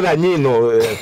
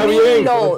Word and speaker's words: Danilo: No, pronuncia bien. Señores. Yo ahí que dijiste dañino. Pronuncia Danilo, bien. Pronuncia bien.